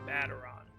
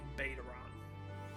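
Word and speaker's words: Baderon: about such things see the Admiral said the name bataran so now I know how it's pronounced so for the last four episodes I look like an absolute fool say bait around but hey it's Final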